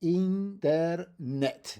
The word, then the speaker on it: internet: We take this word from English, but in Spanish, internet. We end in a t, the stress of the word is on the last syllable.